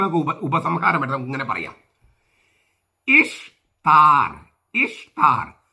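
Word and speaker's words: Ishtar: ഇഷ്താർ എന്നാണ് ഉച്ചാരണം ദേവിയുടെ, ഈസ്റ്റർ എന്നല്ല.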